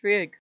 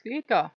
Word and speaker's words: Frigg: So goddess of the day is going to be Frigg or Frigga, depending on how you pronounce it.